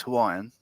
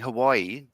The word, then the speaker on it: Hawaii: Yeah, but what I mean is, like, if it's saying Hawaii, yeah, Hawaii, like the double I there's a break and then another one, and